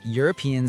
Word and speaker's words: European: Yes, European starts with the U sound, so it's a European country.